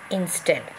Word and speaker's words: instead: here inside the brackets so instead here two syllable words right so in instead so you find here stead is stressed okay divided into two syllable in stead so stress is given to still okay then you have